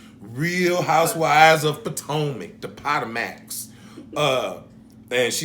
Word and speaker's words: Potomac: Real Housewives of Potomac, the Potomacs.